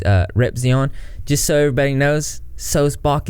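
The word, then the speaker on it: Sulzbach: Just so everybody knows, Solzbach is the way to say it. And can I just correct you, Onision, Greg, and anyone else? It's not Solzbach. I don't know why people mispronounce my last name all the time, but I've said my name a lot in videos. It's Daniel Solzbach, as in like John Sebastian Bach, like the composer, the musician, Bach.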